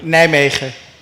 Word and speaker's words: Nijmegen: Was it really, what is the right way to pronounce it? Nice try. And the right way? Nijmegen.